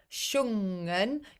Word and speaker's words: sjungen: Sjungen, it's not a hard G, you don't release the G.